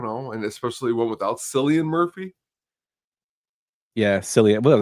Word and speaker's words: Cillian: And especially one without Cillian Murphy. Yeah, Cillian what do they call him? Killian? Cillian? Killian, meow. I call Yeah, him, yeah, it's Cillian Murphy, I'm sorry.